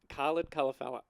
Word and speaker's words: Khalid Kalafella: It sounded like you said coloured fella. No. Like No. just straight up. It's Khalid Kalafella.